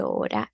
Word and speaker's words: hora: I want you to say, ¿qué hora es? ¿Qué hora es? That means, what time is it? ¿Qué hora es? Remember how the H is silent in Spanish, right?